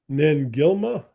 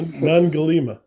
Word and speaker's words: Nangilima: Um, Nangilima, yeah. Nangalima. Mm. Did I say it right? Nangilima. Mm. Yes, it's Nangilima.